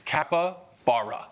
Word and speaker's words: capybara: It's spelled with a Y, but you pronounce You don't pronounce the Y. It's capybara.